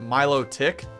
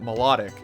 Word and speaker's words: Milotic: back in the day, I always used to call it Milotic. But now, over the years, I've changed and I've called it Melodic. So, are any of you guys like that too? Or how do you say it? But for the first few years of its existence, like Gen 3, Gen 4, I called it Milotic. Now I call it Melodic.